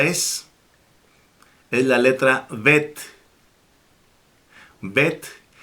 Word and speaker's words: Bet: Bet, cuya fonética es B de bueno en español. Fíjense que tiene un puntito en medio, entonces se debe de pronunciar la B con énfasis.